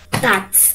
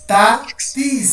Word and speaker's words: tatis: No, ta-tis, son dos sílabas, ta-tis, la primera es ta y la segunda t-i-z, ta-tis, ta-tis, ta-tis, ta-tis, sí, ta-tis, ta-tis, ¿vale?